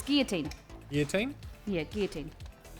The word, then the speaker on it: guillotine: yeah double l o t i n yeah guillotine guillotine it's guillotine your team yeah gear team that's like the